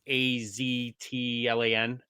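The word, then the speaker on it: Aztlán: So in Mexico, that TL is a tla sound. Yeah. So it's Tlaloc. So it's like Laloc, even though you pronounce the T sound. So what's Az at Az? So don't bother about the T. So it'd be Aslan. it's Aslan. Yeah. So it's like think like Aslan the lion.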